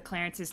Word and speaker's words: C. Lawrence: One of my hummingbirds wants one of the Clarences to be named C. Lawrence, but it's pronounced Clarence.